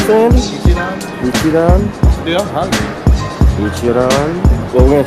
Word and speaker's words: Ichiran: This is how do you pronounce it, Andy? Ichiran.